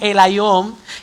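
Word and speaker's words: ἔλαιον: Ahora, en el Nuevo Testamento, la palabra aceite aparece limitadamente y se pronuncia en el griego, no en el hebreo, en el griego como el Ión, que prácticamente se refiere al fruto del olivo, específicamente con distintas propiedades o elaboraciones.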